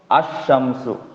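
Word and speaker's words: الشمس: असमसु। अशम्सु। बताओ, यहां लाम का अशम्स प्रोनाउंसिएशन हो रहा है या नहीं?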